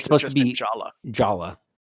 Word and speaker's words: Jaller: So Jaller is canonically pronounced Jala because the guy in charge of the story, Bob Thompson, is British, and you don't pronounce ER in British English.